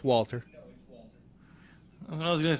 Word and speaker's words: Walter: It was almost like they were dropping the W. Okay, no, it's Walter.